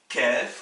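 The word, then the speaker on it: كاف: Et enfin, vous avez la lettre kef, le K, l'équivalent du K français, qui a deux écritures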